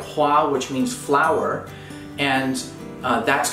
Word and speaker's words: 花: Cantonese and Mandarin, you'll also find words like hua, which means flower, and that's going to be pronounced ka if for the sound that's borrowed into Japanese,